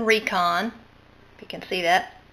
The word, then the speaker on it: Rikon: close so you can see the label it's pronounced Recon if you can see that it's made in